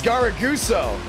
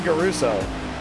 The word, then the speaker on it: Garaguso: it's got a goose it's garaguso i'm saying garuso i have a buddy